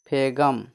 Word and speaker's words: phlegm: Next है PHLEGM last में GM है ना, तो इसका उच्चारण क्या हो जाएगा फेगम, PHLEGM फेगम, फेगम मतलब कप, फेगम मतलब क्या होता है कप।